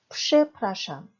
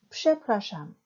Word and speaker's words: przepraszam: 그래서 표기에 철자로는 프, 즈로 쓰였으나 발음은 psh로 발음하셔야 됩니다. 예문 들어보겠습니다. 죄송합니다라는 대표적인 표현 przepraszam, przepraszam 쓸 때는 프, 즈로 쓰지만 발음은 psh입니다. 그래서 przepraszam 뒤에서 두 번째 모음인 프라의 강세가 있습니다.